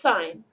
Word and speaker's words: sine: which then looks like sin, but it's still pronounced sine.